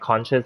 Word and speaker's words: conch: They say conches because there's a CH, but actually, when I was young, we were pronouncing them as conch. The CH, yeah, because depending on where you are in the region, it's in the world, it's pronounced differently.